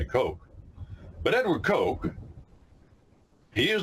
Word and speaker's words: Coke: a man named Edward Coke. In America, we say Edward Coke, but it's spelled Coke. To us, C-O-K-E. In England, they call him Cook.